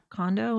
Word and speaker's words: Kondo: Kondo, is that Yep.